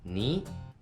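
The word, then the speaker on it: 二: Et on prononce en mandarin et en japonais, ni.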